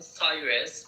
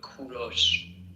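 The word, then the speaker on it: کوروش: English people call him Cyrus, but in Persian we call him Kuros.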